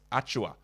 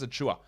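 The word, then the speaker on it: Achiuwa: a short-term stream while precious achua sorry pressure's a chewer are pronounced acting correctly pressures are chewer um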